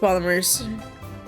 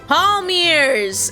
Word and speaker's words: palmiers: Palmiers! It's palmiers. I said it wrong.